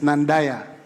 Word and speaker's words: Nandaya: The right pronunciation is Nandaya.